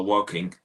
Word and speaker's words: Woking: How do you pronounce that first name? Oh, Woking.